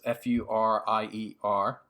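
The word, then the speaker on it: Furnier: of it, and Vincent Furrier, is that how you pronounce his name? He's an Italian guy, but I don't know too many Furriers. It's Furier.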